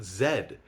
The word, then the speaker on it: Z: Most of the English speaking world pronounces it zed, but Americans and some Canadians pronounce it Z.